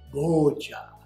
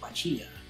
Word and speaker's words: Boccia: If you were from Brazil, you would say Boccia. If you're from England, you might say Boccia. And if you're from Kansas, you might say Bocce.